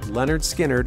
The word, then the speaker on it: Lynyrd Skynyrd: It didn't lead to much at first, but the band forged their sound, releasing their debut album pronounced Lynyrd Skynyrd in 1973, which went certified gold by the end of 1974.